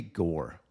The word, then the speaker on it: Gore: At number two, here is a nasty back foot slider by Mackenzie Gore. Gore kind of rhymes with sword, which is what he got here.